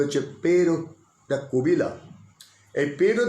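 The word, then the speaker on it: Pêro da Covilhã: একটা লোকের নাম বলি, পেরো দা কোবিলাম। এবারে পুরো উচ্চারণটা কীরকম পর্তুগিজ ভাষায়, এই লোকটি নামের উচ্চারণটা হচ্ছে পেরো দা কোবিলাম।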